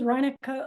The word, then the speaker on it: Reinekke: So my name is Reinekke. Reinekke rhymes with Heineken. So if you ever see it spelled, you just know it's a Dutch beer.